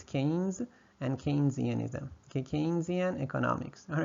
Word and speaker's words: Keynesianism: Say that a few times because there are some people with PhD who don't even know how to pronounce it. It's Keynes and Keynesianism.